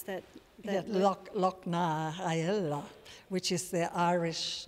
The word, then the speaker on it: Loch na hEala: And how do you pronounce that Lochnaella, which is the Irish name for Swan Lake, but it's with an Irish dance theatre company called Tioch Darsa.